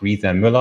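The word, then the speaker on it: Riese & Müller: the brand name is coming from so it's pronounced Riza Miller I will repeat it a couple of times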